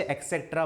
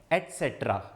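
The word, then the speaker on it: et cetera: यहां पे कहीं पे भी एक्स नहीं है, बहुत सारे बच्चे एक्सेट्रा बोलते हैं, कुछ बोलते हैं, लेकिन जो सही प्रोनाउंसिएशन है इसका वो क्या है, एटसेट्रा।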